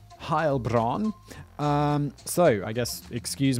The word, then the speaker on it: Heilbronn: episode's called defendant of harbron i'm assuming harbron is somewhere in germany because i looked up the pronunciation and he said german heilbronn um so i guess